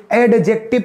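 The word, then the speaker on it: adjective: तो not pronunciation एडजेक्टिव, एडजेक्टिव कभी नहीं बोलोगे, एडजेक्टिव नहीं, एडजेक्टिव। क्या बेटा? एडजेक्टिव। डी के बाद जे और जी दिखता है तो साइलेंट होता है डी, एडजेक्टिव।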